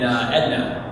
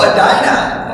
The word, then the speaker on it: Edina: I said, I need to get to some place called Galleria in Edna. And they're like, and it's like 4 people. And they're like, oh, Edina. I said, oh, yeah.